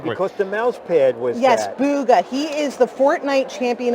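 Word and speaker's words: Bugha: don't have a hub oh how do you pronounce that name because the mousepad was yes booga he is the fortnite champion of the world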